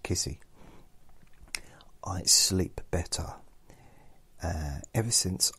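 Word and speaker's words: Giusy: And it's spelled G-I-U-S-Y, but it's pronounced Kissy.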